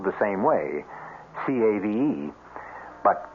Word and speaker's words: cave: with the latin word spelled the same way c-a-v-e but pronounced cave it means beware our cast included